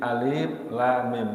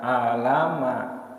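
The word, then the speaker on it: الم: satu huruf perhuruf jadi alif.lam.mim jadi jangan dibaca alamat tidak boleh tidak boleh diangkat Ini seolah-olah kita lagi mengeja enggak ada pernah kejadian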